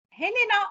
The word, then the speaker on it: Helena: Helena or Elena? I don't know. Helena. Helena, okay, right. Yes. I pronounce it in Spanish, Elena in Spanish. Okay. Okay, it's fine. I am Helena.